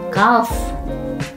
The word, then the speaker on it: kalf: Ku kalf. Oh iya, Kalf ngomongnya kalf.